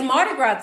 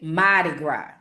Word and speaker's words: Mardi Gras: All right, now, it's Mardi Gras time, y'all. Oh, so let's practice pronunciations for Mardi Gras. We either say Mardi Gras or we say Madi Gras. It depends on the accent, right?